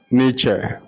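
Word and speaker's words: Nietzsche: one of them is Fred frederi n frederi nich frederi nature is spelled first fredi f i e d r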